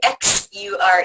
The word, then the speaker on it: Axure: So just in case you're not familiar with it or didn't know how to pronounce it, aure like action axure e is a piece